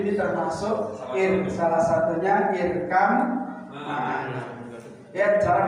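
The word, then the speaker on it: اركب معنا: 7 Yang 7 nanti yang saya terangkan di antaranya 7 ini termasuk salah satunya irkam ma'ana. Ya, cara bacanya coba. Irkam ma'ana.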